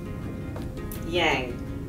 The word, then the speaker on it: Yang: Yang. Yang. All right, so again, the A is more like a uh.